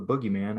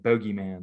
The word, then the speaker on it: boogeyman: But anyway, the reporter mispronounced it and said bogeyman.